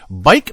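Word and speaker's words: Buyck: If you're interested, 7236 Far North Road, Bike, Minnesota. Spelt B-U-Y-C-K, pronounced bike, apparently.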